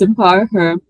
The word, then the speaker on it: EmpowHer: It's spelled EMPOWHER. So sometimes it can be Okay. quite confusing, yeah. But it's Empower Her Fellowship.